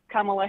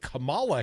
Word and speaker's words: Kamala: how to say it, Kamala Harris. Kamala with a la, right, Erica?